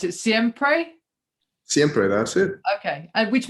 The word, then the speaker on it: Siempre: One of the tracks that I've really enjoyed is, I'm sure I'll mispronounce it, Siempre? Siempre, that's it.